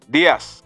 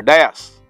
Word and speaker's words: Dias: That man, his name is Javel Dias, or Dias. His first name is spelled J-A-V-E-L, and his last name, D-I-A-S.